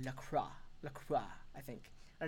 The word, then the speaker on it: La Croix: He's from France, and he told me I've been pronouncing LaCroix wrong. If I were to pronounce it in French, it would be La Croix.